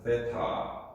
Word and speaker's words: 세타: 부피는 V 몰륨을 얘기하는 거 토양의 총부피로 나눈 것을 토양 함수비라고 하고 이걸 세타라고 읽습니다. 세타. 세타라고 읽어요. 자, 에타도 알고 이제 세타도 알아요.